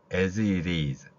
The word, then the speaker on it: as: 안 됩니다 자 다음 AS 제가 as it이라고 쓰지 않고 AS is 이렇게 표현했습니다 여기에는이가 즈 발음이납니다 그러니까 우리말에 스도 아니고 즈도 아닌 중간 정도의 소리에서 중간 정도의 소리에서 목젖이 울리면서 나는 소리입니다 영어의 발음 발음입니다라고 배